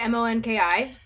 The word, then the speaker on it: Monki: Am I pronouncing your name right? Monki? This is the collaboration with Monkey. Yeah, is that Monkey? Is that Monkey? Yeah. Yeah, okay.